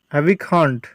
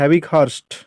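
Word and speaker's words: Havighurst: এই 71 নম্বর প্রশ্নের সঠিক উত্তর হবে অপশান এ, হ্যাভিখান্ড, বা এটাকে হ্যাভিক হার্স্ট বলে। এটাকে উচ্চারণটা একটু ভুল আছে বাংলায়, এটাকে বলা হয় হ্যাভিক হার্স্ট।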